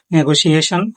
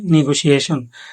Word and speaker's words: Negotiation: তিন নাম্বার শব্দ এটা অনেকে উচ্চারণ করে নেগোসিয়েশন। আর ইংরেজরা উচ্চারণ করে নেগোসিয়েশন।